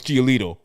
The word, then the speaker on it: Giolito: Like Herb, you didn't pronounce that correctly. Oh, sorry. Lucas Giolito.